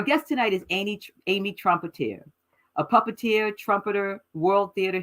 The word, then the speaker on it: Trompetter: introduction oh you're welcome Amy Amy am I pronouncing your last name correct Trumpeter Trumpeter okay I am great how are you today